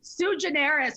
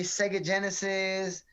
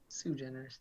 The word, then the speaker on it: Suigeneris: it's too generous yeah everyone messes it up they call me sega genesis sue generis and they just like space it out it's just so generous it's just like sue generous i think it's pronounced correctly